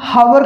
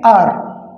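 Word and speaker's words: hour: तो इस वर्ड में एच है वो साइलेंट है। जैसे हम कहते हैं, इसे हम हावर नहीं कहेंगे, इसे हम कहेंगे आर।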